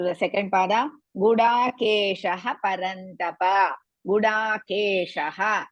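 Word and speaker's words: गुडाकेशः: To remove the Visarga after Gudakesha, next letter is Pa. So we have to add in bit to remove that. You should not say Gudakesha Parantapa. You have to pronounce Gudakesha Parantapa.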